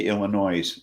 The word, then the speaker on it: Illinois: So like we throw a fit if someone pronounces the S at the end of Arkansas, but we say Illinois. Yes, well, yeah, we don't like the S sounded either.